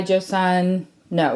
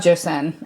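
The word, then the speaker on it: Joseon: almost out of the beauty by Joan no is that really what it's called beauty of Jo Sun I knew I was saying it wrong um I have like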